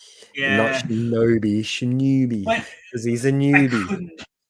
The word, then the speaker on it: Shinobi: It's just like, oh, I see how it's meant to be pronounced now. I get newbie. it. Yeah, Shinobi. Not Yeah. Shinobi, Shinobi.